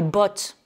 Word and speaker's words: bought: Donc là, vous voyez que I bought, c'est un son court, alors que boat, B-O-A-T, le bateau, c'est un son long.